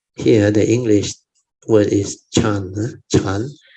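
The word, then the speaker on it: 禪: So Chan, here the English word is Chan. Chan. Chan is the Mandarin pronunciation for Zen.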